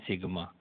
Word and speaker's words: सिग्मा: ऐसे लिखते हैं, यूँ ये सिग्मा है, ये ग्रीक भाषा का अक्षर है, इसको अपन उच्चारण करते हैं सिग्मा, और ये योगफल के लिए दर्शाया जाता है।